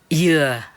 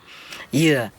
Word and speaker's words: dừa: Because in Vietnam, especially the south, they pronounce coconut like dừa, yeah, dừa in Vietnam, in the southern accent, dừa.